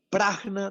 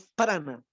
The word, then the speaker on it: prajna: Prajna lleva una J en la mitad. No es prana, es prajna. La verdadera forma de pronunciar esa palabra es prajna, con J intermedia.